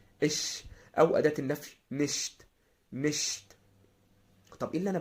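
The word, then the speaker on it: nicht: قلنا عليهم، نبدا ان احنا ننطقها زي ما بننطق الضمير الشخصي اللي هو انا. اش. اش. او اداه النفي نشت.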